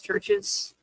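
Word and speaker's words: CHVRCHES: I forgot how to pronounce it. What they're called. I think it's Churches. Churches, yeah.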